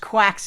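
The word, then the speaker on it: GQuuuuuux: Very clearly pronounced quacks in the show, isn't it? Even though it looks like quirks.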